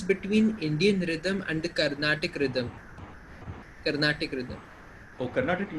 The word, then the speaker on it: Carnatic: Sir, Carnatic. I think I mispronounced it.